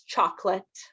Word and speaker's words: chocolate: here is chocolate uh so it looks like chocolate but it's chocolate uh if I were to phonetically spell it it' be like uh Chate chocolate